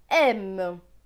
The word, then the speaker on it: aime: AI. AI se prononce est. Avec ME. ME c'est me. Donc ce mot va se lire aime.